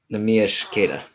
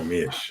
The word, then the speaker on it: Neemias Keita: It is Neemias Keita. Cool. Neemias.